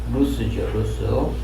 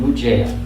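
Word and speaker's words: לוז: 야곱과 그와 함께한 모든 사람이 야곱 집안의 모든 사람이 가나안 땅 루스 곧 베델에 이르고 그러니까 베델의 이전 이름은 루스죠. 루스는 제대로 발음하면 루즈예요.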